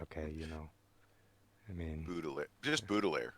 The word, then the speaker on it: Baudelaire: How do you pronounce that, Cordelh? Baudelaire. Baudelaire.